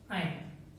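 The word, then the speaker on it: yne: Spelling clear है, यहाँ पर ई से स्टार्ट हो रहा है और ये बाई से, इसे क्या बोलते हैं हम, एन, इसे ईन और इसे आयन, ठीक है।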